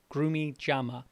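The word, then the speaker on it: grumichama: It's spelled just like it sounds, Grumi Chama.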